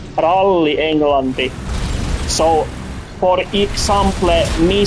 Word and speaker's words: ralli: So, this is what we call ralli englanti.